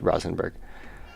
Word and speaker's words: Rosenberg: uh Dr Rosen Rosenberg Dr Rosenberg it's how it's pronounced Rosenberg um I think I